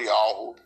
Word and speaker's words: Yahweh: Ouça, então, nas Escrituras está escrita por meio do tetragrama hebraico e a pronúncia está definida por Yahweh no rugido do leão.